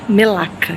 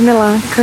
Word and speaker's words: Melaka: Ou Melaka, que é como eles pronunciam aqui, né? Não sei se a pronúncia tá certa, mas escreve-se Melaka.